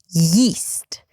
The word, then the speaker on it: yeast: Same thing with the word yeast, right? Yeast, the thing you put inside the bread so it can rise, the dough can rise. Yeast versus east, right?